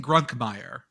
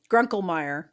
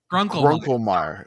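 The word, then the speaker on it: Grunkemeyer: His name is Ethan Grunkmeyer. Grunkelmeyer. Grunkelmeyer. So Like You Grunkle can't State. take that syllable away. It's the best one. I'm Yeah. gonna. I will say Grunkelmeyer.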